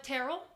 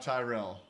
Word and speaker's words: Tyrrell: Today my guest is Tyrrell. I said it right. I'm the best. Aren't I? Absolutely. Unlike everyone else in your life. It's not Tyrell.